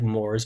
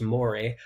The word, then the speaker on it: mores: on the other hand which looks like moors but it's pronounced mori are more official and